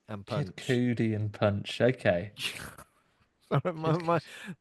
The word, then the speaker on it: Cudi: Um, the first part of his name is Kid, and the second part of his name rhymes with Judy.